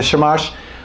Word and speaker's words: shamash: it how do you say it okay the shamash otherwise known as the servant candle that's the